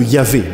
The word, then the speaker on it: Yahvé: Et comme vous le savez, pour le prononcer, on a pris l'habitude de mettre un A ici et un E ici, ce qui donne le nom de Yahvé.